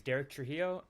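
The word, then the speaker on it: Deryk Trujillo: person of course yeah prob my name is Derek tro it's spelled D e r y k t r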